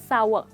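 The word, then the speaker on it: sour: इसमें 2 सिलेबल्स हैं, यानी इसके 2 पार्ट्स हैं। हम इसको कहते हैं सावर, यानी कोई भी खट्टी चीज़, जैसे कि ऑब्वियसली नींबू सबसे फेमस खट्टी चीज़ होती है।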